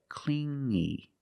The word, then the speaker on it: clingy: You hear the sound only the nasal sound here, no G, not clingy, but clingy, clingy.